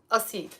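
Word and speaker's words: القصيد: bayt written with a qasid, but it's pronounced asid.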